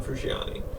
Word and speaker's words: Frusciante: No one gives a shit about John Frusciante.